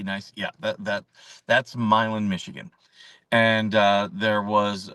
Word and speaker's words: Milan: It's spelled like uh Milan. But it was Milan, Michigan.